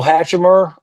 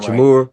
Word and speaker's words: Hachimura: Uh, Rule Hatchimer. I can never say his name right. Hachimura, He, yeah, Hatchimer.